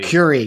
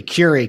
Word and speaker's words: Curie: So so last we spoke you were you had publicly launched your Curie Bio which I Curie Curie Curie. God damn Like Marie Curie.